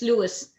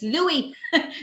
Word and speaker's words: Louis: No, it's just, I constantly hear people from America pronouncing Prince Louis's name in England as Prince Louis. And I keep saying, and I'm shouting at the television and I'm saying it's Louis because that's the way they pronounce it as well.